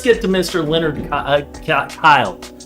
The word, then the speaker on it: Kille: to Mr Leonard uh Kyle I always want to say killing it's hard not to with the name spelled like that right k-i-l-l-e right Leonard Leonard Kyle he was born June